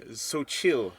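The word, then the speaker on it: Xochitl: playing America Chavez her you say her name soil Gomez because it is also the name of a tortilla chip line okay and and it says how to pronounce it on the back thank you for for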